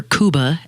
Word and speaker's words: Cuba: of been opened up or kuba as it is pronounced and and we see